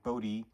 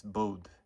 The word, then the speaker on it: Bode: If I recall correctly, the guy Bodie uh preferred to say it's to uh pronounce his name BOD, but it's actually sort of a I think a Dutch name. So, it's Bode.